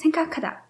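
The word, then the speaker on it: 생각하다: Ostatnie na dzisiaj, to jest syn-ka-ka -da. Syn-ka-ka-da. Dobrze słyszycie, jakby co, że tam jest przydechowe k. To jest akurat przez jedną z zasad wymowy.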